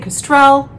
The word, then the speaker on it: kestrel: I was saying Kestrel, and somebody said, no, it's actually kestrel, and it's a bird. And I was putting the syllable accent in the wrong place.